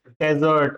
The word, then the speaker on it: desert: जैसे कि camels live in डेजर्ट और डेजर्ट। इट इज़ डेजर्ट। अगर रेगिस्तान है तो।